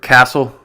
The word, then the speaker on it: castle: And we'll finish with the silent T, the silent letter T, which is almost always silent in the letter combinations STLE, STEN, and FTEN. Just like in the word castle.